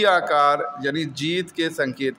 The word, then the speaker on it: Nkosi: Nkosi Sikelel sorry नकोसी नहीं कहेंगे, इसको कांसी सिकेलेल कहते हैं। कांसी एन जो है साइलेंट रहता है और इसका प्रोनाउंसिएशन थोड़ा डिफरेंट है, साउथ अफ्रीकन लैंग्वेज का वर्ड है ना।